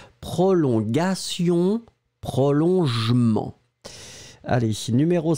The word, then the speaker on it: prolongation: This is the way you should pronounce it, so one more time, A, prolongagaga, prolongation, and then the second one,